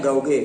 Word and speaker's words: gauge: Ya, tulisannya gauge tapi bacanya gauge.